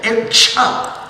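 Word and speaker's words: क्ष: Actually, Swamiji, I asked him if I should pronounce it like the ksha in shama, and he said yes. Okay, ksha.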